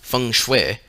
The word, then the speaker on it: feng shui: chinese system of geomancy feng shui pronounced feng shui is the science of